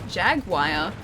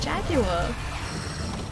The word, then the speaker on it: Jaguar: Jaguar.